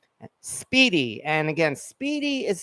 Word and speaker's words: Spiedie: And again, it's Lupo's, Lupo apostrophe S, Speedy. And again, Speedy is spelled, well, Google will correct you, but Speedy is spelled Spiedie.